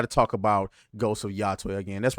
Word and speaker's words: Yotei: It's Ghost of Yotei. That's how I'm going to pronounce it.